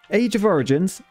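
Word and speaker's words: Age of Z Origins: video age of origins age of origins you don't pronounce the zed is a super addictive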